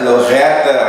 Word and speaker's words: Lorreta: It was Lorreta. I know, we gotta say it right? Because I was saying Lorreta or something.